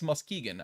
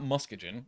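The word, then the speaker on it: Muskegon: supposedly Mis enunciated like I know it's Muskegan I know that's how you say it not musken it's Muskegan I know that's correct but for some stupid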